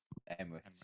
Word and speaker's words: Emrys: Emrys, yes. Emrys Esports. It's I think a it's going to be Welsh name.